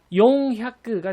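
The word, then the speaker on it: よんひゃく: 근데 사백을 말하실 땐요, 요에다가 이응 받침으로 말하는 게 훨씬 더 자연스럽습니다. 그러니까 용약그가 되겠습니다.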